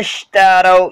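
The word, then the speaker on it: اشتروا: அல்லதீன அஷ்டரவ் ஓகேங்களா. நூன் பக்கத்துக்கு அலிஃப் சைலண்ட். நஷ்டரன் வாசிக்கிறது நஷ்டரவ் தான் படிக்கணும் ஓகேங்களா. அல்லதீன அஷ்டரவ் ஓகேங்களா. அல்லதீன அஷ்டரவ் இந்த வா பக்கத்துல இருக்கிற அலிஃப் சைலண்ட் ஓகேங்களா. அல்லதீன நாஷ்னு படிக்கக்கூடாது நஷ்னு தான் படிக்கணும்.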